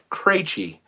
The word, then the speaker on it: Krejci: He pronounces it Krejci, and that is the correct pronunciation of it. My family, for some reason, pronounces it Krejci. It is a name of Czech origin.